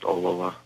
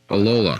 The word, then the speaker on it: Ollila: It's pronounced Ollila. Ollila.